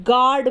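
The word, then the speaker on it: guard: ए आर दी गोद गोद में भी यू ए रहा है लेकिन यहां पर भी यू क्या है साइलेंट है हम यहां पर यू को नहीं बोलते हैं हम क्या बोलते हैं गार्ड बोलते हैं या जैसे यस जी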